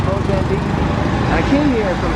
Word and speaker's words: Mozambique: I'm going to give you a little roundabout sponsored by my 3 fake girls, Monique, Unique, and Technique, which rhymes with Mozambique.